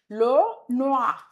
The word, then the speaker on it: le noir: Le noir. Le noir. O-I is sound.